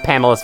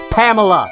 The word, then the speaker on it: Pamela: uh since I freed Pamela's father and yes by the way Pamela that's how you pronounce her name not Pamela sorry um what you